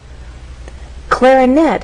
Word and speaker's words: clarinet: our voice Glide up clarinette has three Ables clarinet but it's the final syllable that is stressed and there's a pause